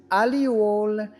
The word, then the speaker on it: allele: An allele pronounced as alluole is a specific version or variant of a gene.